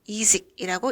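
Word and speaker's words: язык: 호러쇼라고 쓰고 하라쇼라고 읽습니다 언어라는 단어는 야식이라고 쓰고 이직이라고 읽습니다 봄이라는 단어는 us나라고 쓰고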